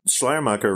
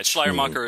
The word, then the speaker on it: Schleiermacher: Although Schleiermacher, right? And is that how you pronounce it? Yes, it is. Yeah, Schleiermacher is okay. The way to pronounce it. It's just fun trivia bit. Schleiermacher is apparently German for veil maker, which absolutely